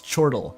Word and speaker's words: chortle: No, it's chortle. I was chided by in a previous stream for pronouncing it chortle.